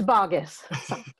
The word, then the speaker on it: Bogus: mispronouncing your name that's okay it's bogus it gets pronounced many different ways our family reunion t-shirt